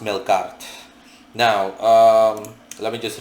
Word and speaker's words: Melqart: mistaken uh called melkart that's pronounced I'm sorry that's spelled m e l q a r t I repeat m e l q a r t um pronounced milart now um let me